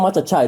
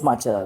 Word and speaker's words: matcha: matcha machaa so sry it's not machaa it's just Macha it's matcha so so so cha